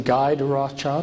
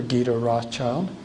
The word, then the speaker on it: Guy de Rothschild: And this is, you can pronounce his name Guy de Rothschild or Guy de Rothschild, if you want a more French pronunciation, Guido.